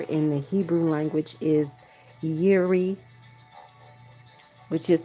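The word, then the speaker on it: Jireh: And the name for provider in the Hebrew language is Yuri, which is spelled Y I R E H.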